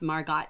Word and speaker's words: Margot: Heidi says, I always thought it was pronounced Margot. Yeah, it's a French name, so the O, it ends in an O sound.